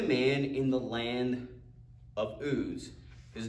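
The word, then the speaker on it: Uz: in the land of ooze he goes what is that oozy stuff that's just how you pronounce it land of ooze okay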